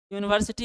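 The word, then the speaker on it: university: क्या या क्या होगा यूनिवर्सिटी होगा यूनिवर्सिटी किसका उच्चारण होता है यू जैसे यूनियन यूनियन में भी आप य आता है लेकिन लेकिन आप लोग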